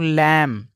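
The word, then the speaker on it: lamb: B silent होता है जैसे कि इसको पढ़ेंगे दोस्तों लैम और इसको पढ़ेंगे बम यहां पे बी का कोई भी उच्चारण नहीं होगा अब देखते हैं कि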